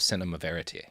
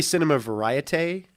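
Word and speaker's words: cinéma vérité: you did fantastic yeah you even said it right fantastic yeah I love saying things right when people say Cinema variety I get mad no that's the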